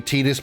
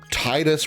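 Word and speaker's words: Tidus: I guess officially quote unquote it would be Tetus because any other any uh spelling of Ti do your best is always pronounced Tina Tifa.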